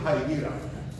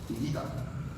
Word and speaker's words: Higuita: Y a mi hijo le dicen Jaigira. Jaigira. Pero solamente el entrenador de fútbol americano que lo conoce, que tiene una relación, y él es bien gringo, es Higuita.